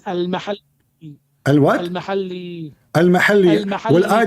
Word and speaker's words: al-Mahalli: Jalaluddin al-Muhalla wa Jalaluddin al-Suyuti. Wrong. It is not Al-Muhalla. What it is? You don't understand. What it is? It is Al-Mahalli.